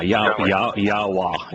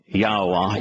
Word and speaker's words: Yahowah: If you look at the way that the Hebrew vowels Yod, He, and Wah are pronounced in some 10,000 words that Yahweh used to comprise his Torah, prophets, and Psalms, you'll find that Yahowah is the only applicable way to pronounce those three vowels.